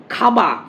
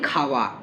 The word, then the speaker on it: খাওয়া: বলছে অন্তস্থ ব শ্রুতি খাবা খাবা না বলে আমরা বলি খাওয়া খাওয়া এইভাবে উচ্চারণ করি খাবা খাবা মানে অষ্ঠধ্বনি অষ্ঠধ্বনি বচ্চারণ না করে আমরা দন্তষ্ঠ উচ্চারণ করি খাওয়া খাওয়া খাওয়া এরকম না খাওয়া এইভাবে